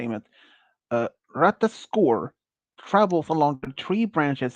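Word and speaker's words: Ratatoskr: called okay this is how a rightly is pronounced d it uh ratas score travels along the tree branches to deliver messages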